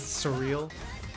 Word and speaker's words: S3RL: ozone and s3rl or how like to pronounce their name is surreal like a bunch of